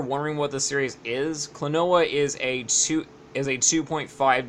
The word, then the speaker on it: Klonoa: klonoa door to phantomile yes that is how you pronounce it klonoa I am salt I'm solidifying that right now klonoa anyways klonoa it's